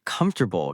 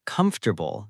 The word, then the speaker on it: comfortable: The word comfortable can be tricky for beginners. Yes, many people pronounce every letter, but that is not correct. That is right. We say comfortable, not comfortable.